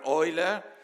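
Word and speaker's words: Euler: mentioned already um the I'm using the German pronunciation Leonard Oiler who was the famous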